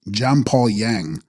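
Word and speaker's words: འཇམ་དཔལ་དབྱངས: A fuller Tibetan form is Gam Dapal Jangs, pronounced Jampal Yang, Sanskrit Manjugosha, glorious, gentle-voiced one.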